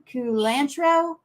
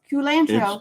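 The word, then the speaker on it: culantro: some some of those is it Kanto it's pronounced kulantro it's not Santo it's kulantro it's it's no Su santro santro santro in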